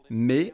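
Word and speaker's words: μή: Saviez-vous que le mot ne pleurez pas, c'est un mot grec, c'est le mot mais m e prononcé mais et cela signifie simplement non.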